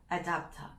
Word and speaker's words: adapter: 호주 발음은 adapter 이렇게 말하기도 하는데요. 어댑터가 아니라 adapter 목소리를 좀 깔아주시고요.